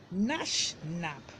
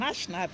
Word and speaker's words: gnashnab: Now the next one is nashnab. And nashnab is spelled Gnashnab.